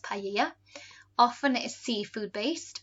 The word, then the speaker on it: paella: Something they might have in their main meal might be this here, paella, or we call it, and in Spanish pronounced paella.